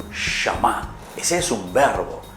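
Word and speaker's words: שמע: Se dice Shama. ¿Cómo se dice entonces, Melissa? Shama. Shama.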